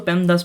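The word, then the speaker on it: PEMDAS: इसके बारे में नहीं मैं इसको पेमदास प्रोनाउंस करता हूं क्योंकि यार सुनने में भी अच्छा लगता है और चीजें याद भी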